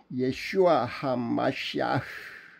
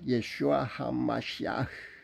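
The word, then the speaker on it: ישוע המשיח: 예슈아 하마시아흐, 예수 그리스도의 현대 히브리어 발음은 이렇습니다. 예슈아 하마시아흐.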